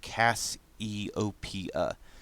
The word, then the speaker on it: Cassiopeia: them the constellation cassiopeia mrs simpson says that's pronounced cass e-o-p-a it's a group of